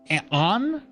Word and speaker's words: and: And you could say that like on because the D is silent.